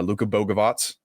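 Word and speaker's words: Luka Bogavac: and that was uh Luca Bogavots, that's how you say his name, Boatz and um Caleb Wilson.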